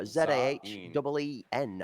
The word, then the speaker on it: Zayn: It is not Zayn, it is Zayn. So Zahen apparently is the pronunciation for that.